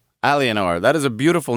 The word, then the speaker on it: Aliénor: How do you pronounce that again? Aliénor. Aliénor.